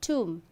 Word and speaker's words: tomb: So, whenever you find B is at the end of a word and just after the letter M, B is silent.